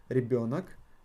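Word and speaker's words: ребёнок: It got yo, and if we got yo inside the word, the emphasis falls always on yo. Ребенок, дети.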